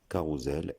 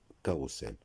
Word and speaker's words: carrousel: les parcs de jeux se prononce carrousel et non carrousel.